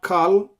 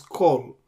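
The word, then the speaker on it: כל: Generally, like as in kol, this is not kal, this is kol.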